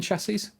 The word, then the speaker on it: chassis: Third S is silent. Simple machine chassis.